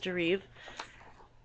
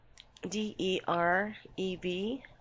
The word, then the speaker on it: Derev: say it wrong Dar his name is deriv d e r e v it's not derev they said it's D so the E it sounds like e and this super soldier has